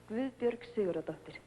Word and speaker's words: Guðbjörg Sigurðardóttir: You pronounce it Gabud Bjorg Sigurd Doctor. Yes. Let me hear you say it. Guðbjörg Sigurðardóttir.